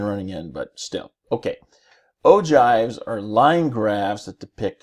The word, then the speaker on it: ogive: like me you're probably wondering in the world Oh jive and yes I had to look up how to pronounce the word because I wasn't even sure